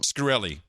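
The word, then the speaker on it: Shkreli: Scarilli.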